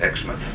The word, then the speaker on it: Exmouth: the British town of Exmouth. We say Exmouth, I understand the Australian pronunciation is Exmouth, but they're referring to the same place.